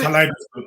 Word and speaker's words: Kaleidoscope: Before we go any further, Reverend, how do you pronounce that word? It's Kaleidoscope Trust.